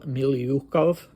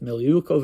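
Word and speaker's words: Milyukov: person is pavl or Paul milov I think that's where the stress is and Al not just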